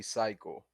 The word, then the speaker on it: TP Psych: It's not TP Psych. It's Psych. It's just Psych, so basically the Yeah. T is just silent. Silent T, and that's it.